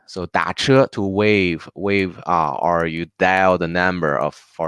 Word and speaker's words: 打车: you feel this one is very hard to pronounce, we also have an easy way for get a taxi. We can say 打车，打车。打 literally is to hit, right? So 打车 to wave, or you dial the number for